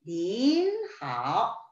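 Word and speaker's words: 您好: 니하오 대신 닌하오 라고 표현을 해주시면 되죠.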